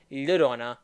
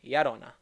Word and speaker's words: Llorona: It's like, no, it's not Llorona, it's Yarona.